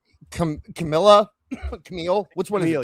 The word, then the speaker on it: Camille: We talked briefly last week about how like Camille, which one is it? Camille or Camilla? Camille. Okay, because one of the podcasters pronounced it Camilla, and it always screws me up.